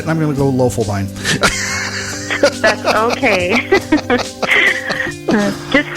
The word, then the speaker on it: Loeffelbein: Loeffelbein. Loeffelbein. All right, everybody with me. Loeffelbein. And I'm going to look at it and I'm going to go Loeffelbein.